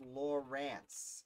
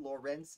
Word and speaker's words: Laurens: laurence okay laurens and then it's laurance it's spelled weird it's like a yeah it's not lawrence it's laurence warren warren oh very